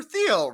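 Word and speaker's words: Thiel: Beautiful I'm like oh Peter uh it's Peter theel right that's how you say his name like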